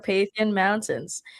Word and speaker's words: Carpathian Mountains: Did I pronounce that correctly? Yes, you did. Carpathian Mountains.